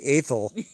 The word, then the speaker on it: Athol: So when you read it, naturally you would read it Athol. Ath, but they say Athol, which sounds like somebody with a lisp.